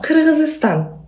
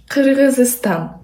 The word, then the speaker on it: Kyrgyzstan: 아니, 그러면 키르기스스탄 사람들은 어떻게 얘기해요? 우리말로 얘기하면? 네네네. 아, 키르기스탄. 오! 다시 네. 해주실래요? 키르기스탄. 키르기스스탄. 오. 아, 이렇게 해요? 네. 오. 키르기스탄.